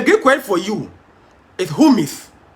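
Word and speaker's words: ὑμεῖς: Now, the Greek word for you is humis. Humeis. Yes. Humeis. At times, the pronunciation is different from how the word is spelled.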